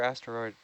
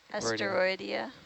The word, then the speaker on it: Asteroidea: Asteria or asteroid? Asteroidea. Yeah, I thought I was saying it wrong.